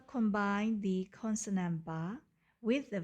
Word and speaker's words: ဘယ်: in green and vowels in red the first syllable combine the consonant bar with the v a which has a low